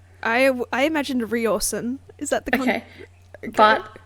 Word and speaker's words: Riorson: So I just said, and when I was reading it, I said Rawson. I imagined Riorson. Is that the... Okay. But, so in the audiobook, I've heard audio, it's Ryerson.